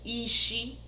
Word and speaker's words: isi: The head is ishi, ishi. Okay, I remember when I was teaching you the numbers, it was ishi, was number 6, ishi. But mind you, it's different pronunciation. Same word, but different pronunciation.